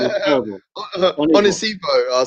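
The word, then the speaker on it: Onisiwo: I'll pronounce the W as a V because he's playing in Germany. Yeah, I heard the guy. But real talk is African, so it's Onisivo, isn't it?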